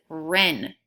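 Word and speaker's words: wren: see how you did number one was Ren WR e and where the WR worked together to make that sound - was glyphs in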